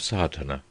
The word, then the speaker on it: sadhana: A word may be added about the pronouncing of sadhana. The accent falls decisively on the first A, which has the broad sound of the letter.